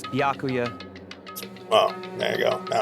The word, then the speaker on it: Byakuya: Baikla. It's Byakuya. Oh, there you go. Now I know how to pronounce it.